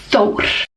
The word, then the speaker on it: Thor: Oh, by the way, have you ever heard Thor pronounced with the correct Icelandic accent? Thor is Thor. Very strong R. Thor.